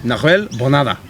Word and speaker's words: Nahuel Bonada: But people don't pronounce his name properly. It's Nahuel Bonada.